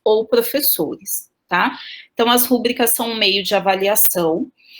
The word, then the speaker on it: rubricas: E as pessoas me corrigem falando que são rubricas. Eu já consultei alguns professores de português e alguns me disseram que eu posso pronunciar rúbricas, tá?